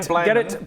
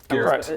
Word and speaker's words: Gerrit: roughly based on Dutch in my world.